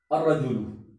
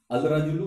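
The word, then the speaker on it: الرجل: अर्रजुलु, अलिफ लाम शुरू में आया लेकिन लाम को हजफ कर दिया, साइलेंट कर दिया, और रा के ऊपर तशदीद देने के बाद जबर दे दिया, लाम को हजफ कर दिया। अर रजुलू नहीं, गलत हो जाएगा, अल रजुलू गलत है, अर रजुलू घर नहीं,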